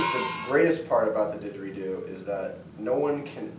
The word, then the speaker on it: didgeridoo: like I'm just yeah it's pronounced didgeridoo it has two DS in it did Jerry do oh 3ds i guess but it actually is